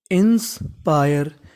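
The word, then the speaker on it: inspire: अगर आपको इंग्लिश में कहीं पर आई आरई लिखा मिले तो उसे पढ़ते हैं हम लोग आयर क्या पढ़ते हैं आयर ध्यान रखिएगा काफी इंपॉर्टेंट चीज है आयर तो मीनिंग बन गई इंस्पायर इंस्पायर इंस्पायर इंस्पायर का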